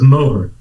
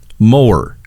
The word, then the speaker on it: Moher: We pronounce it the Cliffs of Moher. Moher.